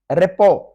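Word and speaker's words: rapport: रेपो, रेपो, इसमें T silent है और आर का साउंड भी बिल्कुल हल्का सा आखिर में करना है, रेपो।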